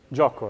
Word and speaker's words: gioco: Gioco, right? So we've talked about the I before. It's silent, okay? It's just there to make the G a J, right?